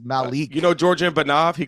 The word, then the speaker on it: Malik: the whole time I've been calling you Malik and it's Malik you know georgean bav